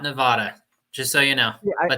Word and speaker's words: Nevada: Rick say it again Nevada it's Nevada Nevada yes it's like uh tomato right no in the dictionary it has the mark over the a to to show that